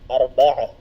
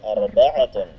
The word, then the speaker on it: arba'ah: Kapag hindi natin bibigkasin ang patinig sa dulo ng ta'ul marbuta, arba'ah. Naam. Magiging ha ang kanyang tunog sa dulo.